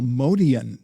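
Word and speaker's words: Motian: We used to call him Paul Modian back then. That was the pronunciation. Really? And then somehow, where along the line, this Motion, right?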